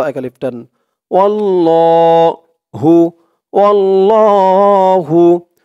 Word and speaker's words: আল্লাহ: অনেকেই এই আল্লাহ শব্দটাকে আল্লাহ, ওয়াল্লাহ এরকম ভাবে উচ্চারণ করে। আসলেই আল্লাহ শব্দের ডানে যদি জবর অথবা পেশ থাকে, খেয়াল করে শুনবেন, আল্লাহ শব্দের ডাইনে জবর অথবা পেশ থাকলে তাহলে আল্লাহ শব্দের লামটাকে ল বলতে হয়।